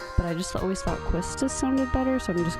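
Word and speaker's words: Quistis: let's begin because they said you'd pronounce the beginning of it almost like quiche like the way it's spelled and so i think that's why it would be keistes oh i get to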